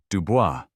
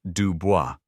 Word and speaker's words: Dubois: "Dubois," she pronounced it crudely, "Dubois." "It is Dubois," Annalise corrected gently, a lifetime of such corrections making the words automatic. "Like the French."